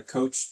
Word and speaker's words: Koch: The Coke chart. K O C H. Some people call it a coach chart, but I know the Koch brothers are spelled K, so I think it's pronounced KO.